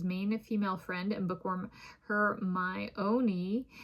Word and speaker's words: Hermione: His female network expands ever so slightly beyond his main female friend and bookworm Hermione. Yes, the plot even specifies this pronunciation.